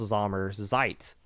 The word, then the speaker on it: Sommerzeit: I don't know how to pronounce all this other headboard smashing letters on the back of Sommerzeit, but I know this at least first part is pronounced Sommerzeit.